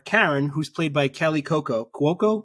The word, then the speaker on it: Cuoco: and her daughter Karen who's played by Kelly Coco Coco how do you say this I had to look it up uh hold on I wrote it down yeah so Kelly Cuoco suspects that Sid is back in is behind